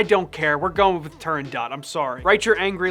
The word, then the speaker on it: Turandot: there's a debate okay the name is Persian but it's an Italian opera written by Puccini Persian pronunciation might be turned dough but the Italian pronunciation we turn dot I don't know I